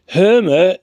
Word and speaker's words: Hermer: government and this um hmer or hermer even I keep pronouncing it wrong hermer the Attorney General is